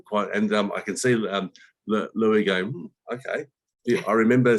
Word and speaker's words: Louis: And is it Lewis or Louis? How do you pronounce it? It's Louis.